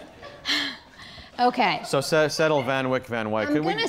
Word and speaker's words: Van Wyck: Why do you say Van Wyck instead of Van Wyck? Who comes into our house and corrects our pronunciation?